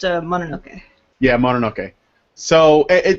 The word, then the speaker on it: Mononoke: have been saying it's more than okay not Monroe key so just that it's like saying okay that is mom can't pronounce English it's pronounced it's pronounced a Mononoke yeah modern okay so it doesn't matter whatever